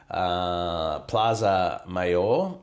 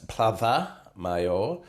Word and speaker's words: Plaza Mayor: I've been told that I'm not allowed to say Plaza Mayor. It's Plaza Mayor. Plaza Mayor, see you in Spain. Yeah, because Z in Spain is TH, right. Pronounced TH.